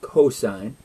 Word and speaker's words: cosine: There's another one called cosine. We abbreviate these with just three letters. So when you see S-I-N, it's not pronounced sin, it's pronounced sine. C-O-S, we pronounce that as cosine.